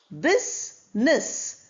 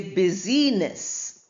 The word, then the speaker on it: business: Business we don't say busyiness the the word is derived from busy b u s y but when it comes together we pronounce it as business where i is silent then we have fruit